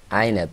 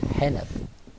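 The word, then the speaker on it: عنب: Okay, when we learn them how to pronounce this alphabet, they mix between ha and a. And for example, when you say to him, say Ainab, he says Hanab.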